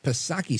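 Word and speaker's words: Psaki: is Gen per Circle back pasaki silent P of course now Jen pasaki was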